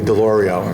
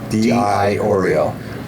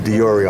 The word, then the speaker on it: DiIorio: People call me Deloreio. It's not Doro. It's DI Oreo. Or people could shorten it to Dioro. I don't mind that, but don't call me Doro.